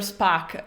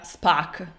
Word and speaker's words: Spock: same, and even Mr Spock, in the original version, in English, is pronounced "spaack", with a sort of open 'a', while I know that